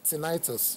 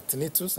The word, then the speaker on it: tinnitus: You may see tinnitus written there, or tinnitus, as some people, you choose any one you want to pronounce.